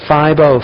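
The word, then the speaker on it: FEIBA: antibodies against factor eight so the name is either fiber fever depends on which way you like to pronounce it but if you spell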